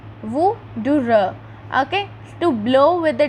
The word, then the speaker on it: wuther: Here in yellow box its pronunciation is written Wuther. Wuther.